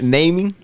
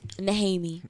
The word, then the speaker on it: Nehemie: It's naming? Name? How do you pronounce it? Go ahead, but you almost had it. Naming? Nehemie.